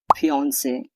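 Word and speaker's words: fiancée: अगर मंगेतर लड़का हो तो फियांसे और अगर लड़की हो तो फियांसे। दोनों शब्दों का उच्चारण प्रोनाउंसिएशन एक जैसा होता है।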